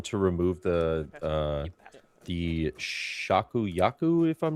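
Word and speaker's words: Shakuyaku: And Scratch Manu is going to remove the uh the Shaku Yaku if I'm not mistaken. I always feel like I'm mispronouncing her name. Yeah, Shakiyaku is correct.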